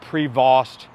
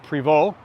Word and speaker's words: Prevost: the bus it's not Prevost given those an ST it's a french-canadian manufacturer to Preval put a bowl I